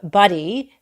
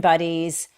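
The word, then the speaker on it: Budde: And it all came together for me yesterday when I was watching with you the Bishop Buddy, and I mispronounced her name as Bud yesterday, the Bishop Marion Buddy's remarks at the National Cathedral that were directed directly at President Scribbleface.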